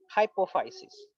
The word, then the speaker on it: hypophysis: और ऊपर की ओर जो स्पेशल सेल्स बना हुआ है, इस पार्टिकुलर सेल को हम लोग प्रोनाउंस करेंगे हाइपोफाइसिस।